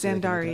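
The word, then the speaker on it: Xandari: Zandari, it's spelled with an X.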